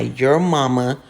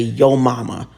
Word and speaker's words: Yo Mama: Now, all I did was spread some of my Your Mama seasoned flour. It's actually Yo Mama. That's how you pronounce it.